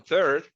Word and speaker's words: third: On third, remember that the first two letters are TH, TH. When we have that combination of letters, we gotta pronounce it, or the sound that we get, it is so third, third. You gotta put your tongue a little bit up, like behind your upper teeth.